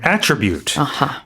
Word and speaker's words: attribute: in the noun form, the stress is on the first syllable. So in this case, it would be an attribute as a noun, which means it's a quality or a characteristic Yes.